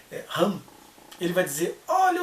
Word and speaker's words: Ham: Aí o menino mais novo, Ham, mais conhecido como Cam, mas é assim que pronuncia no hebraico, ou sei lá, no babilônio, Ham, ele vai dizer, olha